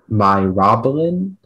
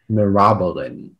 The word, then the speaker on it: myrobalan: Myrobalan, mirabolan. Myrobalan or mirabolan? That sounds about right. Can I have all the information again? The word is myrobalan, also mirabolan.